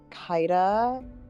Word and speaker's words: Kaida: So yeah, my character's name is Kaida. Basically rhymes with Skya.